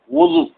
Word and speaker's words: وضو: کیسے تلفظ کیا جائے۔ وضو فرماتے ہیں وضو واو پر ضمہ دے کے آپ کو پڑھنا ہے، اور ضاد پہ تو آٹومیٹک ہی ضمہ آئے گا۔ کیوں؟